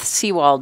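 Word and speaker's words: Sewald: For the record, my name is Seawald. It's spelled M A R Y, capital B T H S E W A L D.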